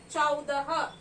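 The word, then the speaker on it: चौदह: So club both of them, which becomes 14 in Hindi, and you call it as Cha ko au ki matra chau, the ha, chaudah, CHAUDAH, chaudah.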